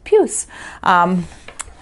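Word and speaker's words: puce: today we're on puse i had to look up how to pronounce that it is kind of an icky pinky purpley thing and it is french for fleas lovely right i think of pepe le pew so it's puss so i found oops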